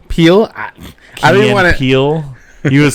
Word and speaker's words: Peele: Jordan how do you say his last name Peele Peele I Peele he was saying what were we